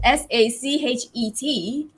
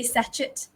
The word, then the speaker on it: sachet: that right but anyway you would say like this in british english it's sachet okay sachet so not sachet i used to say satchet but it's actually sachet